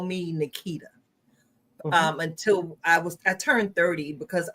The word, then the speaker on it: Nikita: They still tend to put the pronunciation on the wrong syllable of my name, that they go Nikita.